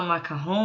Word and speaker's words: macaron: A gente fala macarrão, mas ele se escreve com um R só, tá, pessoal?